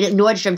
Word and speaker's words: Nordstrom: at Nordstroms oh yeah oh Nordstroms yeah yeah you know it's Nordstrom I don't know why